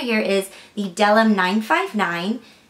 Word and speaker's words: Bdellium: This one right here is the Bdellium 959. The B is silent.